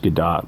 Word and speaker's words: Gadot: sell that is gal gadot i know it's pronounced gadot but that's just stupid in one of the